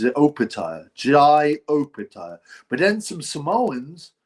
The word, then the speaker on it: Jai: See, I used to call him Jay Oaya. And people say, "No, his name is Jai Jai." I'm like, "Yeah, but every interview some people call him Jay, some people call him Jai." So, I put out um I had to ask everyone and people going, "It's Jai. It's Jai."